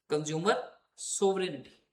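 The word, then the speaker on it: consumer sovereignty: उससे link, कंज्यूमर सोवरेनिटी, इसको और भी कुछ लोग डिफरेंट तरीके से प्रोनाउंसिएट करते हैं, बट I think right pronunciation is this only जो मैंने अभी बोला, कंज्यूमर सोवरेनिटी।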